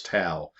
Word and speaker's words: Tow: alan here greetings from tau texas that's spelled t-o-w but it's pronounced by the locals tau having been a winter